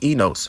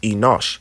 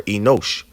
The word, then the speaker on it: Enosh: Now, if we go and keep going to the third person, it's enos, right? And it's actually pronounced Enosh or Enosh, a son of Seth, but also it means a mortal.